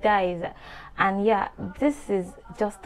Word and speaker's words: diez: I pronounce it dies.